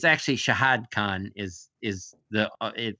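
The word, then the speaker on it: Shahid Khan: yes and it's actually shahad Khan is is the it I've seen it spelled Shad by a lot of people but there's two syllables and shahad Khan is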